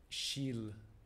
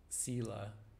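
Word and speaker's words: śīla: is very basically first shill sila depending on which pronunciation system uh you're coming from the either the sanskrit or um the pali sila in pali leads to samadhi other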